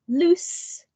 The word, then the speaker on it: loose: opposite of find whereas loose with a s sound not z is an adjective and